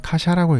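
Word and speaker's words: 火車: 한자로는 불화, 술의 차입니다. 일본어로는 카샤라고 읽습니다. 뜻은 말 그대로 불로 된 수레인데 뜻을 찾아보니 지옥에서 죄인을 씻는 불타는 수레라는 의미도 있다고 하네요.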